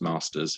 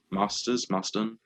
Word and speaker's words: Marsters: Yeah, and Anthony Stewart-Head and James Masters are both Marsters. Yeah, Masters. And previously Jason Momoa. Yeah, he came out and said shit went on. I support Ray Fisher. But Marsters and Anthony Stewart-Head said that they don't.